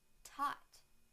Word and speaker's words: taught: thought now the to sound in the word taught taught taught now I will use them both